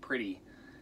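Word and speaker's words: Priti: name of pretty patel i think it's pronounced pretty pretty patel is a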